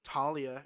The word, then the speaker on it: Thalia: And essentially, what happens is the tree that was Thalia, who is pronounced Talia in this, which I'm pretty sure it's Thalia.